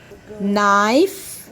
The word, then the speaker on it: knife: knock yes that's good knife knife knee knee knot knit here k is silent and it makes only the sound of n okay good now now